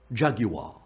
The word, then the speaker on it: Jaguar: I'll show you pronounce it like the pretentious British car commercial voiceover guys. Jaguar. Jaguar.